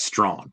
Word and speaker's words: Strawn: I'm impressed that you appropriately announced or pronounced Strawn. All right. Because that's a freaky spelling for strong.